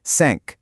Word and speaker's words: cinq: Well, with numbers like cinq, six, Sept, huit, neuf, and dix, you actually say it.